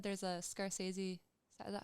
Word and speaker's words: Scorsese: So you said there's a Scorsese. Is that how you say it? Scorsese. Movie on your Yeah, that's gonna be Martin on. Scorsese.